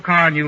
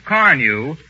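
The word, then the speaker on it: Carnu: I wish everybody knew how easy it is to keep a car new looking with Johnson's Car New.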